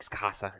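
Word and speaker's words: Scáthach: Also they pronounce Scott's name like Skasa or something.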